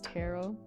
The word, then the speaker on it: tarot: I know all righty I pronounce tarot like carrot terrot carrot oh that's